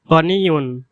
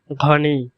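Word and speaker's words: غني: এরপর গনিয়ুন, গনিয়ুন, বিশুদ্ধ আরবি ভাষায় গনিয়ুন, গনিয়ুন মানে ধনী। আর আঞ্চলিক আরবি ভাষায় এর উচ্চারণ হবে ঘনি, ঘনি। এখানে গয়িনকে ঘর মতো উচ্চারণ করা হয়েছে, যেমন ঘনি, ঘনি।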